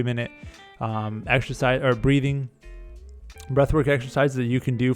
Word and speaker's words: Breathwrk: There's also another app I love, which is Breathwork, BREATHWRK. Or maybe it's BRTHWRK. They spell it in a weird way, but it's WRK for work.